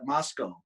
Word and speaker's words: Moscow: Like we have a Moscow, but we call it Moscow. It's spelled Moscow, and that's where the University of Idaho is.